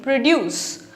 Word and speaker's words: produce: the word produce, P-R-O-D-U-S-E, you can divide the word into two syllables, pro and deuce. If you focus on this area and put more of stress in this area, you are saying produce, which is a verb.